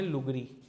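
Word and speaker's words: Lugri: हैं उसका नाम क्या उसे क्या प्रोनाउंस करते हैं लगरी it clear L यू जी आर आई लगरी यह नोट करलो पेपर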